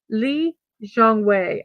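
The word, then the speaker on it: Lee Chong Wei: 20120 Summer Olympics so Lee Chong way 42 years old today or is it Jong way do I say it with the Z Lee Jeong way I believe is H the correct pronunciation is my apology for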